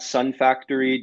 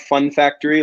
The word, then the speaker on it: Sun Factory: to me josh at sun factory dot solar um it's not fun factory a lot of customers mispronounce it uh although we're real